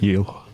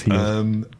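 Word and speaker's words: Gil: Pronunciation? Heel. A bit of phlegm. Carlos Heel.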